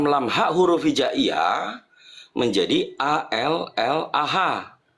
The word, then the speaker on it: Allah: Semua manusia yang berbahasa apapun menerjemahkan alif lam lam ha huruf hijaiyah menjadi A, L, L, A, H. Disebutnya tetap Allah sesuai dengan ayat suci.